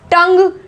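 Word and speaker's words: tongue: टंग, टंग, जी और वॉवल क्या है ई, इन दोनों के बीच आ रहा है यू, तो साउंड होगा इसको टंग यू नहीं बोलते हैं, यू आवाज आती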